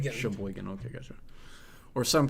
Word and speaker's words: Sheboygan: drive back to I don't know how to pronounce that. Sheboygan. Sheboygan.